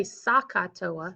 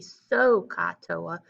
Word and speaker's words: SOHCAHTOA: from geometry sohcahtoa and if you pronounce it properly it will help you a lot so don't say sakatoa right saka those sound the same i need it to be so katoa so those sound different from one another all